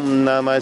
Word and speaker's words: намах: Не поется ха, намах. Намах, хэ, вот намах. Оно с придыханием, оно не произносится никогда в санскрите. Оно намах, намах, намаха.